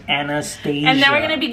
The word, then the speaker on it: Anastasia: Everyone knows it's pronounced Anastasia.